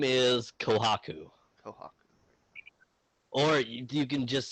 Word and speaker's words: Kohaku: My name is Kohaku. Kohaku. Or you can just say it really fast and it's just Kohaku. I'd say it both ways. But it's spelled KO''HAKU. Okay. Kohaku, Kawaku, whatever you want.